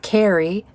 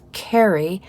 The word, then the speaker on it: Carrie: Carrie and I'd say my name is not Carrie it's it's Carrie the difference between getting married and being merry it's different very subtle but it's different so get it right